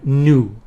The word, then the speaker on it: nu: uh letter Greek letter new okay we pronounce it new right and it's it